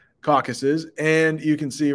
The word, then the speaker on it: Caucasus: hey, this is pronounced Caucasus. Caucasus. 3 syllables. Careful how you say that. Caucasus.